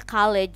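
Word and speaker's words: college: itu jadi kalejs nah di dalam bahasa Inggris dibacanya call-ej sebenarnya call-ej gitu kyj Hai Kalau yang ini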